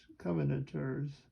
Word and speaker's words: Covenanters: 17th century when the coventors covenanters accidented on the third syllable Covenant Church men who